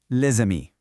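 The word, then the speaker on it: les amis: Instead, that s at the end of le links up with the a in amii and it all becomes le. Hear that flow? Leami.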